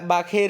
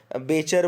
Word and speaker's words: Bacher: ये BACHER याद रखिएगा, बाखेर, इनको मैं बाखेर बोल रहा हूँ, बेचर बोल सकते हो आप, बस स्पेलिंग याद रखना। तो हरमन बाखेर बोल रहे हैं अपन, जर्मन नाम है इसलिए शायद बाखेर ही अपन प्रोनाउंशिएट करेंगे इसको, है ना।